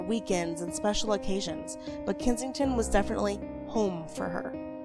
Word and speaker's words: Kensington: And actually during the marriages or the marriage, they mainly lived at Kin Kensington Pal.